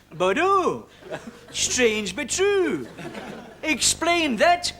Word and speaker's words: Bordeaux: thing about bordeaux it's written bordux but it's pronounced bordeaux strange but true explain that michael ashbury the